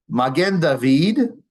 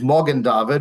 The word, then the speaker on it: Magen David: Magen David. So again, the wine is Mogen David, which is the Yiddish pronunciation, but Magen means shield.